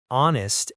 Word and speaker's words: honest: Number 4, our, honest, and honor take an because the H is silent.